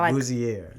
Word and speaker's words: Bouzier: want to mispronounce Boozier. So, Booier. Yes. Like your best French like Booier.